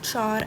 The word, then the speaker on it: char: two then there's float Char and Boolean you can pronounce this as Char or car however you like it but yeah let's